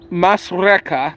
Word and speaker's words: Masrekah: When Hadad died, Samlah from Masrekah, that's how you say it, reigned in his place.